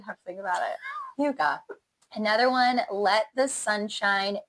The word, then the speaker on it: hygge: Very Hygge. Very. Did I say it wrong again? You said it right.